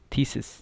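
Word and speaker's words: theses: Similarly यहाँ पे अगर आई होता तो थीसिस था, ये थीसिस, ठीक है।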